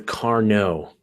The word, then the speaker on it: Carnot: Elena Everyone says, if it's like the mathematician, it's the Carnot.